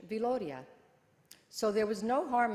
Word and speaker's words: Viloria: My mother told us that my father's ancestor was an Italian musician who spelled his name Villoria, dropping one of the L's to maintain the correct pronunciation, Viloria.